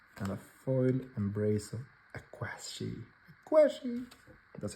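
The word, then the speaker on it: Aqshy: No Rest, and a foil Embrace of Aquashi.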